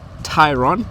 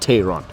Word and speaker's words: Tayron: Today, I'm at the launch of the new Volkswagen Tayron. That's how you pronounce the car. Tayron, not Tayron. So VW has said we should tell you guys, the public, that it's actually Tayron and not Tayron.